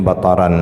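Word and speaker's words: بَطَرًا: Bacanya bataran ya. Bisa juga dibaca batiran.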